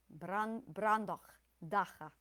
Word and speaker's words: Brandoch Daha: Brandoch daha on the first and fourth. Brandoch daha.